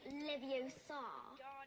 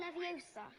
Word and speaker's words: Leviosa: Besides, you're saying it wrong. It's Leviosa, not Leviosa. You do it then if you're so clever. Go on. Wingardium Leviosa.